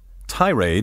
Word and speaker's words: tirade: Tirade may also be pronounced with the accent on the second syllable, tirade.